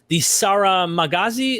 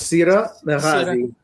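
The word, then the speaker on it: Sīra Maghāzī: It is the Sarah Magazi. Am I saying that? Yeah. Sira. It's Sira Magazi. Yeah, the GH sound is very hard.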